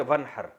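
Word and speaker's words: وانحر: में नहर तो वन असल में था व इन हर पढ़ा जाता है मिला के वन हर तो अलिफ अलिफ साइलेंट हो जाता है वन हर फसली आप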